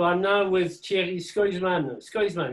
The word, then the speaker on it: Schoysman: Scoisman, is that the right pronunciation? Skoisman. Scoisman, yeah, from the Yeah.